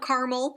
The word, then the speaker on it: Carmel: the profits of bail now Mount Carmel it sounds kind of like caramel like you like to eat so it's spelled a